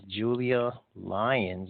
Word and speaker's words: Julia Lyons: And also joining us tonight is our special guest, and her name is Julia Lyons. Is that right? Did I say it right? Yeah, you got it.